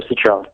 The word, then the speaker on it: Cetrone: And we have, is it Cetrone? I don't want to say it wrong. No, you got it. You got it first shot. It is Cetrone.